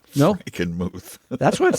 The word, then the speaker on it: Frankenmuth: Frankenmuth. That's what it says, Franken, M-U-T-H. How would you pronounce that?